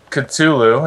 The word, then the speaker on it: Cthulhu: Cthulhu, yeah.